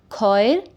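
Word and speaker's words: choir: CH makes sound of k in word khoir.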